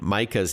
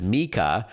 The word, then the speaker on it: Micah: So, if Siri says something wrong, like pronouncing your friend Micah's name as Mika instead of Micah, then select the person in your contacts and tap Edit in the top right corner.